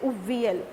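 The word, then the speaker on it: aviyal: उसने उसका नाम क्या दिया, अवियल, जिसको क्या बोलते हैं, उवियल। वो कैसे बोलते हैं, उवियल, उसका प्रोनाउंसिएशन क्या है, उवियल, और लिखते क्या है, अवियल।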